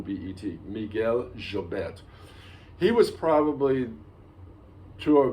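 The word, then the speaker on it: Llobet: and uh especially miguel jobette uh i say jobet it's that's how my argentine teacher pronounced the double l in spanish spelled l-l-o-b-e-t if you're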